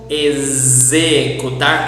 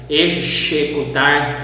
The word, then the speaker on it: executar: Exagero, executar. And if you pronounce with the other sounds of X, like executar, executar, it's totally wrong. You need to pronounce as a Z.